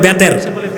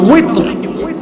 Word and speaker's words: উইতর: এটাকে বাংলাদেশে বলে বেতের, উচ্চারণটা হবে কি উইতর।